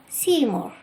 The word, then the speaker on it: Seymour: with his clairvoyant poet Seymour, whose name is spelled differently but sounds like I see more.